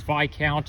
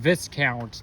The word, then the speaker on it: Viscount: now it's not pronounced this counts despite that it has an s in it the S is silent and while I was